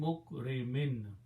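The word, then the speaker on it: مكرمين: Mim, and when you pronounce noon and mim together, this is, noon is not pronounced. Mim mukrimin.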